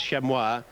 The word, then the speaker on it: Chamois: Kroger, who passed on the news just prior to the race that the preferred pronunciation is Chamois.